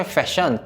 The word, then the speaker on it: fashion: 패션 대신 fashion, 백신 대신 vaccine. 무언가 약간 발음이 찝찝하다 싶으실 때 이렇게 몇 번만 적어주신다면